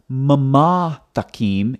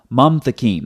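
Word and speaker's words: מַמְתַקִּים: So it's not mamatakim, it's mamtakim. That's why when you look at the transliteration over here, it's one syllable, mam, not mama.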